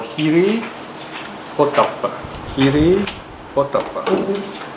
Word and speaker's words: hiri: In Pali, they're called Hiri Potappa. Hiri Potappa. In Sanskrit, it's pronounced as Hri. You might hear some of these Indian movie stars, isn't it? Hri, H-R-I. Pali is Hiri.